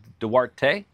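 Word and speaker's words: Duarte: Additionally, Dwarte California and Miriam is Dwarte Darte. I just had to ask my wife for pronunciation. She's a native Spanish speaker.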